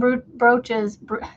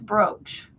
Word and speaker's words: brooch: Pins and bres. I I hate how it looks like bres but it's brooch. How O you know is it phonetically? Ooh turns to O to bro.